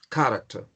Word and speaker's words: character: only the human character see that is ch well in English we pronounce character character okay thank you thank